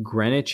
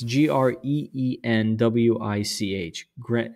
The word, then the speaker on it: Greenwich: uh I'm not sure I think this is pronounced Greenwich it's g-r-e-e-n-w-i-c-h Greenwich uh this is known as the Queen's house this is Indigo Jones another um prominent um English architect 1616.